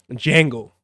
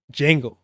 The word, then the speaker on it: Django: Django. Remember the D is silent. Django, Shaft, and a few other black action figures.